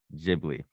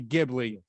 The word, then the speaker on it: Ghibli: hard g like ghibli sound but miyazaki pronounces it with a soft g so so grammatically it's supposed to be ghibli but to the founder it's ghibli yeah i love that